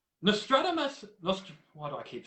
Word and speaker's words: Nostradamus: had an Australia mus Nostradamus actually that's how you pronounce it when I read it in my head it's not remedy must Nostradamus but um yeah I'm